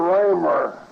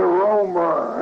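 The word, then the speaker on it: Roemer: Charles Conrad, and they pronounced R-O-E-M-E-R, Raymer, the German pronunciation. R-O-E, see. Instead of Romer.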